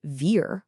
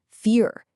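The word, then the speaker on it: vier: The letter V in German, a lot of the time it actually sounds like an F. So the number four isn't pronounced ver with a vibrating V sound. It's fear with a soft f sound.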